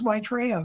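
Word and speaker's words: Maitreya: Yeah Rob can you pronounced his name right. It is Maitraa.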